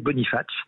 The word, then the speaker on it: Bonifacio: un à côté de Boniface Bonifacio mais on prononce pas le yo et pareil je vous